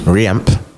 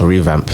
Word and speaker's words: revamp: And they, Reamp. yeah, the reamp of like the training facilities, the stadium, the like. Did I say it right? The reamp is that's wrong. Revamp. No, Revamp. revamp.